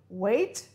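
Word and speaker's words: weight: G-H, we don't pronounce the G, we say wait.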